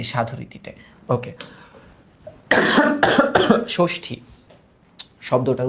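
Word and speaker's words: ষষ্ঠী: দেখো তাহলে আমরা যখন ষষ্ঠি উচ্চারণ করি কেউ কি ষষ্ঠি বলি?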